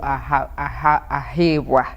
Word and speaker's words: Ahabwe: That is a for you, Ahabwe. That is the right pronunciation.